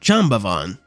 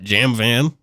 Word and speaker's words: Jambavan: Jemavan's name is pronounced Jambavan. How the hell have you been saying it? That's how I've been saying it, not Jamvan.